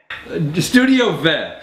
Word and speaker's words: StudioVed: How do you say that again? Studio Vet. Studio Ved.